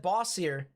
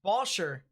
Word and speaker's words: Bossier: I've always said Bossier. It's Bosher.